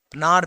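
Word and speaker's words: Pnar: festival है जो कि नार पीपल उनका नाम है पी एन ए आर P silent होता है नार पीपल के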